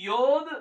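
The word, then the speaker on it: יה: the last two words இதுல முதல் எழுத்து வந்து யோத் the first alphabet is யோத் இரண்டாவது எழுத்து வந்து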